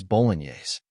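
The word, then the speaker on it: Bolognese: word correctly in English it is spelled as b o g n c the correct pronunciation of this word is Boles Boles means an Italian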